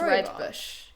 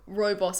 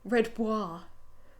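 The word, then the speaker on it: rooibos: But it's pronounced red bush.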